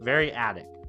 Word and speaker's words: variadic: Variadic was the how you pronounce it.